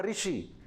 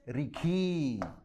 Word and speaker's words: ऋषि: हैं, ये हुआ ऋषि, लेकिन नागपुरी में ऋषि लोग नहीं बोलेंगे। ये क्योंकि एक ग्राम की आंचलिक भाषा है ना, वो प्रोनाउंसिएशन नहीं आ पाता है। तो हमको अपने गांव की, छोटा नागपुर के गांव की भाषा, तो वो लोग ऋषि को जगह क्या बोलेंगे? रिखी।